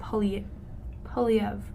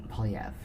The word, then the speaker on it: Poilievre: I know, but so it's just like, say it with a regular R. Pierre Poilievre. Poilievre.